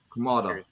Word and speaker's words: Kamada: kamada or Kam how do you say it kamada all right so if use kamada and saw